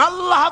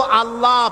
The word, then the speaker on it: আল্লাহ: উচ্চারণ হচ্ছে আল্লাহ মুখটা একটু গোল হয়ে যাবে বলেন আল্লাহ